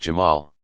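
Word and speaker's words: جمال: beauty and infinite attractiveness, Jamal, pronounced Jamal.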